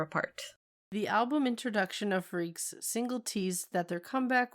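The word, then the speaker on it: Freakx: On May 9th, 2012, D.Bace attempted yet another venture by forming a new unit called Freaks. Spelled freak with an extra X on the end, but it's pronounced Freaks.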